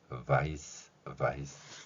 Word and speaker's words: vice: 그럴 경우에 표현한 단어가 바로 vice 표현입니다. 영어의 V 소리는 우리말에 없습니다. 윗니로 아랫입술을 물고 목젖이 울리게 나는 소리이고요.